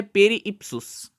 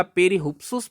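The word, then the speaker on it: Περὶ ὕψους: इस पुस्तक का नाम है पेरीइप्सुस। अब ये जो पेरीइप्सुस है उसके भी आपको दोनों उच्चारण मिलेंगे, दोनों जगह लिखा हुआ मिलेगा। पेरीहुप्सुस भी मिल सकता है और पेरीइप्सुस भी मिल सकता है।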